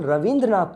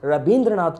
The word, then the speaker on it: Rabindranath: So for example, Ravindranath Tagore, it is pronounced as Rabindranath Tagore by a typical Bengali person.